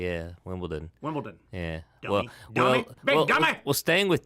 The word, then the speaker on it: Wimbledon: It's a D, not a T. Wimbledon. Everybody's it is a D. Yeah. Wimbledon.